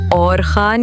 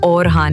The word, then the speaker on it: Orhan: لیکن مزہ ایک طرف، صحیح تلفظ اورخان یا اورحان ہے، اور اس نام کا